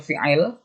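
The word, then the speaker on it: فعل: Fi'alun dibacanya fi'il, itu terbagi berapa sih?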